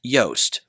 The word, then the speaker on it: Joost: I've recently come to understand, I believe, I'll probably get it wrong again, but his name is sounds like toast. So, it's Joost.